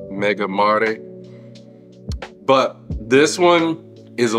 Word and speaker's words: Mega Mare: And I believe that is the way that it is pronounced, Mega Mare.